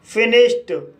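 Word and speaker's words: finished: फिनिश्ड फिनिश्ड word में एस एच का बाद इडी आया है और एस एच का उच्चारण श हुआ है। इसलिए डी का उच्चारण ट हुआ। इसलिए इसे फिनिश्ड पढ़ा जाता है।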